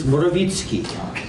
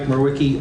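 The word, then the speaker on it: Morawiecki: In Polish, it's Morawicki. Most of the people here know me as Merwicki, though. And for the record, I'm Merwicki.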